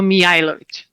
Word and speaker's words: Mijajlovic: So those J's are pronounced as a Y. And I know it's a lot of letters, but it's a bit difficult. So Mijajlovic.